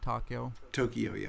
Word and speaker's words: Tokyoyo: Tokyoyo. All right, Tokyoyo.